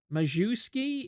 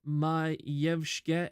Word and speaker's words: Majewski: Majewski, if you're pronouncing it like an American. Majewski, if you're pronouncing it correctly.